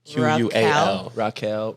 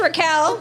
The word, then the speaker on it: Raquel: there's an e like q-u-e-a-l Raquel Raquel it's just Raquel but it's Elliott's jeans